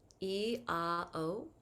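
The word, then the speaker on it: IAO: So for our heart, we're going to use the seed sound, E-A-O. It's spelled I-A-O, but it's pronounced E-A-O.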